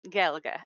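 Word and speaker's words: Gaeilge: Then we also get Logan's Run, who speaks Irish Gaelic, and so it's not Gaelic, it's Gaelga, I think maybe is how you say that.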